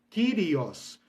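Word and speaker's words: κύριος: foi a palavra kirios ela é escrita com k y né kirios pronuncia-se como curios ou curios né mas eu vou pronunciar aqui com simplicidade kirios né Por causa do som Y que para nós em português soa como um I Então kirios mas eles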